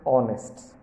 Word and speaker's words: honest: For example, an hour, an honor, an heir, an honest. In all these words, the first letters h are silent, so an is used before them.